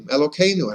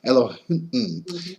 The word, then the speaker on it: Elohim: Then there's another name of God, Elohim, Elokeinu, and again I'm saying it with a k, but it's pronounced it with a h. Elohim.